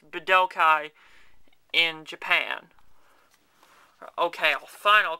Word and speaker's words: Budokai: z but okay three that's right i said badoukai because it's pronounced bedokai in japan okay i'll final call budokai if you want me to but i won't